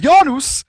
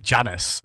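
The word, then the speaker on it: Janus: with his amazing portals yanus is pretty pretty good I have to say it like that every time I'm sorry I just otherwise ridiculous right yeah it is it's not like Janice or something like that they should be getting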